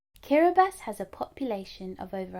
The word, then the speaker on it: Kiribati: of islands called ding that's pronounced Kira bass let's say it together one more time karabus Cara Beth has a population of